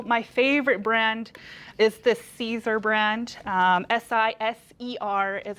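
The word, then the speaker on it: Siser: you can tell my favorite brand is the Caesar brand s-i-s-e-r is how it's spelled and that brand I find you get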